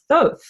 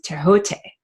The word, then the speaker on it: Thoth: Some people pronounce this being as Thoth. In ancient Egypt, it is Tehote.